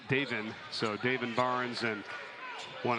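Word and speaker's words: Davon: It's spelled D-A-V-O-N, but it's Davin.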